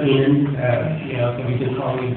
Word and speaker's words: Amend: in advance um anyway my name is Bill aan and pronounced enan you know he been